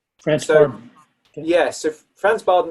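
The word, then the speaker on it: Franz Bardon: Franz Barden. Franz Barden.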